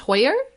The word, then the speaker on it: Hoyer: Anyway, I decided to listen to my fellow podcast co-host, Tim Wilson, and the lovely Julie, is it pronounced Hoyer? Julie Hoyer? Hoyer.